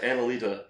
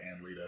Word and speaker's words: Annelida: came in moving on how many times have you had analytica pronounced with a t instead of a d analytica oh thank you do you have to spell it for people not really i mean i hear anne a lot and i go okay okay cool i think